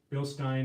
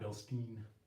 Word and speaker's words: Bilstein: the Billy Goat it's yeah that's bill stop bill Stein is the correct pronunciation some people actually like wow you actually saved the right way but yeah it's Bill Stein not Bilstein so let's see here right Park is burning